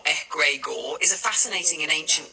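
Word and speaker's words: egregore: An egregor pronounced egg rugor egregor is a fascinating and ancient concept.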